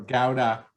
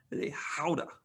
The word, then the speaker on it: gouda: is is uh your gouda sure or gauda gouda or if you're uh good at pronunciation which i'm not uh from from across the ocean i think they say is that a howda that's how they would say it from over there it's got um you